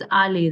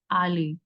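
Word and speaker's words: aller: इफ वी गो on this side, it's ale, right? But in हम English में होते तो we would have pronounced it the R word, but French we will just pronounce till E, ale.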